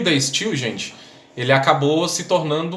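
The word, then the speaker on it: De Stijl: pouquinho diferente tá gente no holandês o j tem som de i tá bom então se escreve tá still com i e j tá bom e o day still gente ele acabou se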